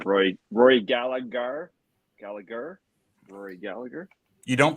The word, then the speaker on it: Gallagher: Rory Gallagher. Rory Gallagher. You don't pronounce the G on the end. Rory Gallagher. How do you say it? Gallagher.